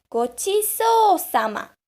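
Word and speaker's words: ごちそうさま: Remember the longer sound. Sa, ma. Gochiso-sama.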